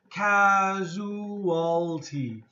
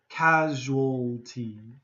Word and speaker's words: casualty: is casualty thing now the dictionary here says it's going to be four syllables okay casualty but usually North American people are gonna say this word with three syllables casual casualty so it's up to you but if you want to sound more natural like an American or Canadian you'll use three syllables casualty congested congested congestion